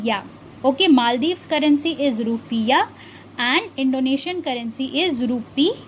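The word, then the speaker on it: rufiyaa: its currency is undoubtedly rupee but it is pronounced as roofie yeah okay and the currency of this country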